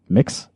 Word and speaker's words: Mx: It's not Mr. or Mrs., but it's MX Mix.